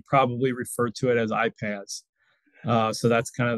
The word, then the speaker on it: iPaaS: you'll hear me probably refer to it as iPads uh so that's kind of the way in